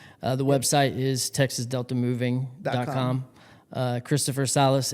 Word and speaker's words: Sales: Christopher Salas. It's spelled Sales. Sales. S-A-L-E-S. For the longest, I thought that was your last name. Yeah, it's actually French. Salas. It's a French last name.